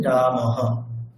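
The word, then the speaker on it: রামঃ: আমরা বিসর্গের উচ্চারণটি করি যেমন রাম পরে বিসর্গ থাকলে আমরা উচ্চারণটি কেমন করি রামহ বিসর্গের এই যে উচ্চারণটি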